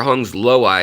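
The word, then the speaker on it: hongsloi: also now the apistograma hong's lay you'll see or hung's low eye is how you say it actually because of the guy's name that it's named after but um you'll see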